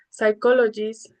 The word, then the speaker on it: psychologist: We also have words with silent P. Uh for example, in our patients with N, S and T. As examples we have um pneumonia, pneumatic, cabort, psychologist, psychotherapy etc.